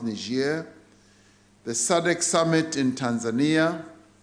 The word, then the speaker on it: Niger: And these are the G20 in Japan, the African Union Extraordinary Summit in Niger, as it's pronounced, Niger, the SADC Summit in